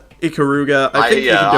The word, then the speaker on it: Ikaruga: Is that how it's pronounced? Icariga? Ikaruga.